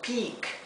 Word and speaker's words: peak: Recuerden que la E con la A se pronuncia como una I larga, I, mientras que la I sola, cuando está seguida de una doble consonante o de dos consonantes, como es el caso aquí, se pronuncia la I muy cortita y cerrada.